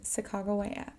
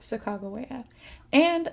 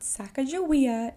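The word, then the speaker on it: Sacagawea: the shishoni tribe is a young woman named sagaa yes that Saga and that is how you say her name it is not sakaia it is sagaa without her help the ls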